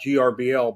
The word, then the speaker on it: GRBL: I always pronounce it Gerbil, and a lot of people just spell it out GRBL, but I think it's Gerbil. I would say Gerbil. It is Gerbil.